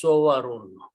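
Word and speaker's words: صُوَرٌ: grammar, these three letters, when you make a word, this has waw has a fatha on that. And the pronunciation is sowarun.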